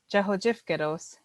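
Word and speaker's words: Cvhocefkvtos: means it slides over, that T sound slides over to that os. And so when you say it, Jahojifgedos, it sounds like that T is attached to it. Usually it's TOS. Sometimes people spell it DOS, but it's a TOS.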